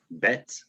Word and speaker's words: Bet: And like we said, the bet with the doggish in it, it makes a B sound like a boy. And without, it makes a V sound like vine.